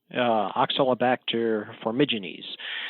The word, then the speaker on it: Oxalobacter formigenes: a strain of bacteria called, I think it's Oxalobacter formigenes, I guess is how you say it. And it's naturally present in the gut to my understanding, and it helps break down oxalates. Right. Oxalobacter formigenes.